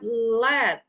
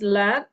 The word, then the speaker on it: led: So the pronunciation is different, guys. Okay. This is led and then lead.